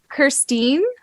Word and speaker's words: Kirsteen: of all I want to know if I'm pronouncing your name correctly okay let's eat it how did you say it sorry Christine yes yes oh my goodness did you get